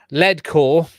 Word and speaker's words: Leadcore: spell it mitchell's asking leadcore just lead cork so lead quality yeah lead core as in the heavy stuff now i've discussed lead